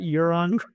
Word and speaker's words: Euron: fan would recognize as, I believe he was Euron. Yeah, That's right. Pronounce that Euron.